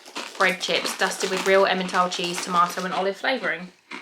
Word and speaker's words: Emmental: Pronounced Emmental.